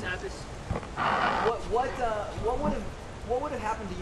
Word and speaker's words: Abbas: Abbas, if I pronounce it correctly. It's Abbas.